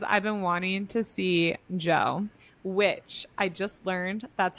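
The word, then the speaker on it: Djo: No, I almost went for a day pass because I've been wanting to see Joe, which I just learned that's how you pronounce it.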